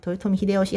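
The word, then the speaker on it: 豊臣秀吉: 발음 어떻게 한다는 거예요? 도요톰 히데오시 한자로는 풍신수일.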